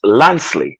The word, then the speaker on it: Lancely: is one point YouTube the name does not have a g it is lancely my father said it is lancely it is supposed to sing it's a French origin you see so don't don't pronounce it with a G elephants my name is